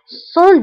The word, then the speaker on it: sans: Sans doute. Sans doute. Sans doute. بلا شك. Le doute هو شك. Sans doute. Le doute هو شك. وبالنسبة للسان فكنكتبوها بأس آخر الكلمة ولكنها لا تنطق.